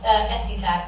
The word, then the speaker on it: Escotex: Have I pronounced it right? Yeah, Escotex.